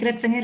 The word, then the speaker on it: Kritzinger: thank you good morning everyone yes you pronounced my name correctly it's kritsinger it's quite a difficult one um but yes